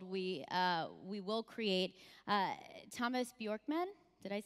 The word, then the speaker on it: Björkman: in the world we we will create Thomas Bjorkman did I say that oh that's great he's